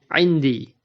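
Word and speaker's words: عِنْدِي: Notice in Indi, the Damir Ya pulls down the last vowel of the Dharf Inda and turns it into Kasra to make it easy to pronounce. So we say Indi.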